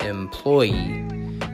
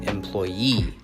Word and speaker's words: employee: united states i say employee though i think that british people say employee with a different stress the definition is a